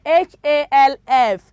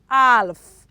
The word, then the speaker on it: half: m is silence okay h-a-l-f it is not alph it is half it is what half s-h-o-u-l-d it is should